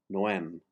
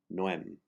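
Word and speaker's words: no hem: words no and hem you drop the h as the h is silent and you combine the words no m just like the word noel but with an m noem the o is pronounced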